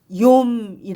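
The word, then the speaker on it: יום: 단어인데요 대인 영어 줘 히브리어 말로는 요미 라고 읽습니다 24시간 으로 구성 등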